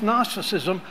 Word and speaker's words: gnosticism: false Doctrine called gnosticism you can't spell it um because it starts with a g but I'm just saying it's gnosticism and and basically what